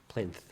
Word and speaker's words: plinth: It is Plinth. TH. Plinth. Ooh, I didn't say it right. All right, this is an interesting I had, episode. I had a TH at the end. I was throwing an F in there for some reason.